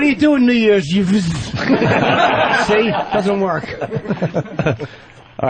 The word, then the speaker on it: Yves: Yeah, YVES. YVE. Your name is Yves. It's not Eve. Funny. That was Jacques Cousteau's middle name, right? Was it? Yeah, exactly. Hey, what are you doing New Year's? Yves?